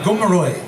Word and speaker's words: Gumaroy: the sydney living museums my name is g-u-m-a-r-o-y gomeroy and as a joke i spelled it like that because when you spell it back in front if you understand the